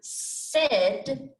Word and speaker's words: said: part of the word you might expect these letters to be pronounced separately as i and if but in fact they work together and stand for e so when you read the word said you have to remember to pronounce it with the letters a and i as e and when